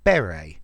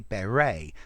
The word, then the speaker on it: beret: So I say beret, stress at the beginning, but the Americans say beret, stress at the end.